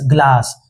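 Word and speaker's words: glass: इसका उच्चारण क्या होगा, जी के बगल में देखो क्या आई ई या फिर वाई है, नहीं है ना, नहीं है, तो इसलिए जी का उच्चारण किससे होगा, गौ से होगा।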